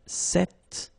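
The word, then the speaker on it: cet: So it's quite interesting because if you listen carefully the masculine form here set and the feminine form here set you write them differently but then you pronounce them the same way.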